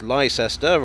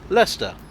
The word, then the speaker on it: Leicester: by newcomers to britain it's not lyster or lychester but leicester by the same token